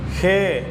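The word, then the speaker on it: ה: அடுத்த எழுத்தை ஹே என்று உச்சரிக்கிறோம்.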